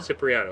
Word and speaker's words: Cipriano: which is Joanna uh soprano or was it pronounce it again s ciano ciano cypriano I'm sorry Joanna cypriano uh case number 547